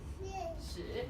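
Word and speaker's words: 豕: So this is actually a formal way of saying pig. and it's pronounced 屎.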